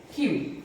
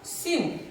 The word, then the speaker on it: cue: The next word is Q. C-U-E and Q-U-E-U-E. U-E-U-E. Okay? It's not Sew, though it is started with C, so but we cannot say it like Sew, so we will call it Q only.